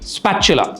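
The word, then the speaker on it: spatula: That's the right way to pronounce it, ஸ்பேச்சுலா.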